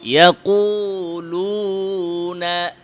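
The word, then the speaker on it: يقولون: ইয়াকুলুনা, এটারে অনেকে ইয়াকুলু চাপে আনতে হবে। ইয়াকুলুনা, লুনা। 2 নাম্বার, ওয়াও উচ্চারণের সময় ঠোঁটে অতিরিক্ত চাপ দেওয়া, এটা আমরা করি।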